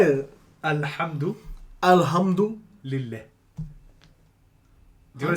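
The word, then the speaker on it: الحمد لله: Is it Lillah? Hold your L a little bit at the end. So Alhamdulillah.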